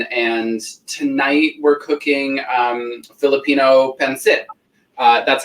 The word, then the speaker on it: pancit: So I'm half Filipino, half Italian, and tonight we're cooking Filipino pancit. That's how you pronounce it, by the way, white people.